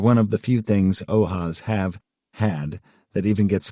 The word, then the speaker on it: OAS: The Andrew Melvin interrogation footage, AMF, pronounced ath is infamous among the conspiratorial community of old house archivists, OAS, pronounced ohas.